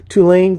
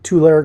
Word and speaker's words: Tulare: I'm looking for for my new house in Tulane County, or Tulare County. I mispronounced it.